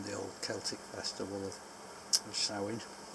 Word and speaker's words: Samhain: old celtic festival of sowing spelled samhain it's pronounced sowing and uh used to